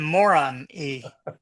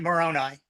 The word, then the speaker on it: Moroni: Am I pronouncing that correct? Angel You Moroni? could call him Moron E.